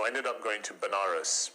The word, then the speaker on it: Banaras: ended up going to banaras which is a place in in india sometimes pronounced as vanadas which is a place